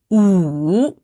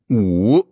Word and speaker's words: 五: Ou. Ou.